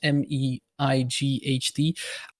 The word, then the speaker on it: Mate: I don't actually know how to pronounce it, but it's like, it's written Mate, but I always say Might when I'm trying to cast him. It's MEIGHT.